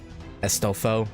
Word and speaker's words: Astolfo: I guess because his name is pronounced like Astolfo, like ass. So instead of ass, it's bestest.